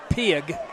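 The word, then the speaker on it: Pigg: I'm going to pronounce it Pig, P-I-G-G. Yeah, that's how they announced it.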